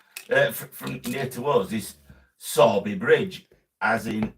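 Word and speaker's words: Sowerby Bridge: we come from from near to us is saby Bridge as in s o r b y but it's PR it's spelled s o w e r b y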